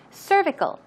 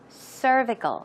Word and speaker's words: cervical: uterus the neck of the uterus so cervical pronunciation there's a stress right there on cervical cervical one more time cervical good job and the next one cholesterol we